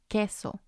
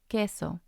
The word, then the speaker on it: queso: silenciosas mean silent letters when there's the qu e combination as in queso queso the U doesn't sound or we also have